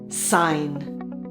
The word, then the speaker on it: sign: Sign. Airplane. The N sound can be spelled with the letter N as in night, KN as in knee, NN as in funny, GN as in sign, or NE as in airplane.